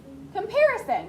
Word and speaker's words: comparison: So if we say compare and then add ISON, how would we say that? It's a short I sound. Comparison.